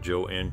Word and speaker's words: Joan: She even encouraged others to pronounce it Joanne Crawford.